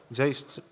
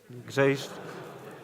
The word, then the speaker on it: Grzejszczak: Just spell it. So Grzejszczak. Grzejszczak.